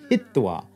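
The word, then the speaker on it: hitvā: meaning to put or place now it's going to turn into heat and we get hittwa for having put or placed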